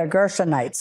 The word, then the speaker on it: Gershonite: And this is where how you pronounce that word? The Amalekite or The Gershonites.